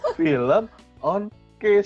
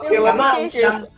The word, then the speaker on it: Filmonkish: Gue salah pronounce, ya ampun. Gue kira film on Kiss. Iya, nggak apa-apa, no problem. Ternyata film Monkeys.